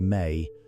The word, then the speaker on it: me: The Sumerian tablets describe a concept called MI pronounced May that functions as something like the pulse of civilization itself.